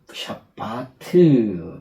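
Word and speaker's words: שבת: 안식할 때 샤바트 명사형으로 샤바트 샤바트 샤바트 여기 점이 이렇게 찍 찍혔는데 베타 아 베타가 아니죠 베트 베트이 안에 점이 있는 것은 이중점이라 해서이 두 그 비읍 발음을 두 번 발음합니다.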